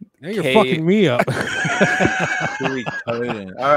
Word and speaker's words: Suikoden: Suikoden. Now you're fucking me up. Suikoden. All right. So God damn, it's catchy. Suikoden. Yeah. Suey, like chop suey.